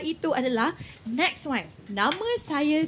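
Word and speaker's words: Saiy: Nama saya Say Say ejaan dia S A I Y say ha macam tu.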